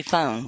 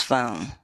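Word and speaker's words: φωνή: When you say voice, it's actually phone, just like we pronounce phone.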